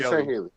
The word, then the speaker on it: Sangheili: The Sangheili, or however you pronounce it, I think it's Sangheili, right? Yeah, it's Sangheili.